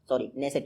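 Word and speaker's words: Knesset: और आप ये जरूर याद रखिएगा, इजराइल की संसद को नेसेट कहते हैं। के से स्पेलिंग शुरू होती है, जैसे नॉलेज की शुरू होती है वैसे ही इजराइल की नेसेट की, तो नेसेट कहते हैं इजराइल की संसद को।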